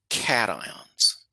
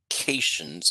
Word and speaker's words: cation: positive ions we call cat ions it's not pronounced CS it's pronounced cat ion like a cat and an ion cat ions are positive